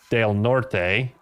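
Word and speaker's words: Del Norte: The only ran I used I think was in Delort, Colorado, which if it was pronounced properly with the Spanish pronunciation would be Dale Norte.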